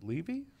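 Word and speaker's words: Leavey: of Science in Commerce from the is it Levy yep Levy like people mispronounce my last name yeah Levy Levy School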